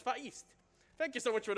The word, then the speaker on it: Vahist: Also, I have Vahist 105 with $20 that says, note for commentator, it's pronounced Vahist without the H. Oh. Like the word histogram. Maybe I should have read that beforehand. So it's Vahist.